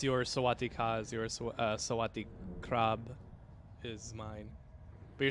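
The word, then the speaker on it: สวัสดีครับ: is mine but you're supposed to say it like with the right intonation because it's a it's a tonal a tonal language so you can't just be like sawadeeka you'd be like Sawatdee krub but and then they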